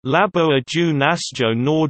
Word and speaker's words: Laboratório Nacional: Laboratório Nacional de Luz Síncrotron, Portuguese pronunciation, Labo Ajo Nasjo Nor de Luz Síncrotron, LNLS, is the Brazilian Synchrotron